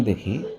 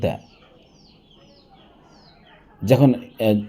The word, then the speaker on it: the: সেটি কি ভাওয়াইল না খঞ্চন যদি আমরা ভাওয়েল দেখি তখন সেক্ষেত্রে আমরা উচ্চারণ করব দি। আর যদি আমরা কনসোনেন্ট দেখি সেক্ষেত্রে আমরা উচ্চারণ করব দে। যখন এখানে আমরা দেখতে পাচ্ছি যে পিই এন পেন।